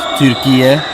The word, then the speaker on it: Türkiye: Of course, it's pronounced Türkiye.